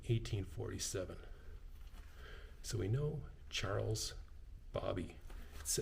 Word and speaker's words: Baby: so we know Charles Bobby it looks like baby but it's pronounced Bobby he was a former